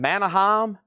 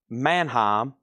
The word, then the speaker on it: Mannheim: I think I've been saying Manahheim. And if that is correct, Mannheim. I think I have nobody have ever told me that's two syllables.